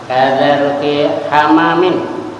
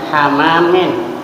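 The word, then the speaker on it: حمام: tuh ada usah diicp membacanya hamamin Jangan Hamam kalau Hamam bertasdid kamar mandi kalau Kiai kami bilang kamar mandi dengan air panas itu kalau belia jadi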